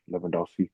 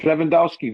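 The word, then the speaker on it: Lewandowski: Leandowski. Yeah. Is it a V or a W? Looks like Luendowski. It's a W, but you pronounce it with a V.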